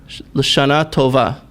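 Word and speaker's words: לשנה טובה: L'Shana Tova. Robin, take a shot at that. Mashana Tova.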